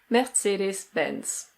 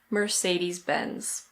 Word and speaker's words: Mercedes-Benz: Here we have another German company and in German this is pronounced Mercedes-Benz. Mercedes-Benz. But in British English we say In American English the R is pronounced, so it's Mercedes-Benz.